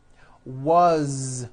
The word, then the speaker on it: was: z ending his mom is Mary as you pronounce it with a voiced Z as the phone rang was which is a very common word it was